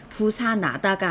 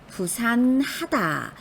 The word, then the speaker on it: 부산하다: 발음해 주셔야 돼요 그러니 부사나다가 아니라 이건 부산하다 부산하다라고 히읗을 제대로 발음해 주셔야 되는 거죠 이렇게 실수하는 것 중에